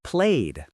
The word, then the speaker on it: played: played. Played. The e d sounds like duh here.